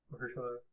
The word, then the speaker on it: Mahershala: First of all, it was Cottonmouth, played by Mahershala. That's how you pronounce it.